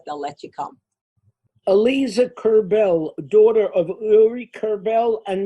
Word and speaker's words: Kerbel: Ronen Kerbel, everyone knows that's the way it's pronounced, son of Uri Kerbel and Michelle Kerbel.